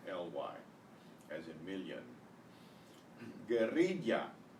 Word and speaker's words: guerrilla: Guerrilla, guerrilla, another trilled R, guerrilla.